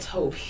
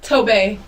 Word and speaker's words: Tobe: It's spelled Toby. Toby. Yeah, but it's pronounced Tobe.